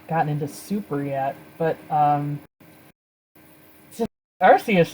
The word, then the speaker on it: Arceus: absolute distaste for the matchup of beerus and Arceus or Arceus however you say it I know that's what the official English pronunciation is but it just sounds horrible and